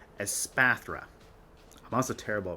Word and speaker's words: Espathra: let's talk about espaphra I've been calling it a sparfra this entire time but anyways let's talk about aspathra I'm also terrible pronouncing